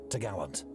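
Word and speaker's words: topgallant: trees which secured the top Gallant Mast pronounced to Gallant the cross trees was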